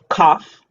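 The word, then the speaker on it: قاف: it's spelled or transliterated kaf remember that cough right so almost saying like the word cough which is a little bit more emphasis on the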